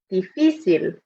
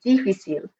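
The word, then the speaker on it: difícil: in mind this one we can see the accent in the middle of the word this is one i often hear students mispronounce and they say difficult but it's the strong part in the middle of the word so make sure you keep that in mind when you're pronouncing this word next one we have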